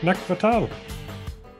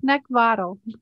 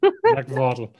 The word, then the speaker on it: Neckvottel: Have I pronounced that right, first of all? No, but that's okay. Come on, you gotta give us the original and the proper one. Go for it. It's Neckvottel. Neckvottel.